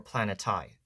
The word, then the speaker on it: planetae: the dwarf spheres the planete. So this term can be spelled or pronounced very differently from my understanding like planete or planeti. That's at least how I pronounce it.